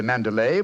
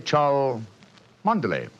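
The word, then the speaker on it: Cholmondeley: Mand precisely old fellow what you thought to be manderlay was really Char manday the name of the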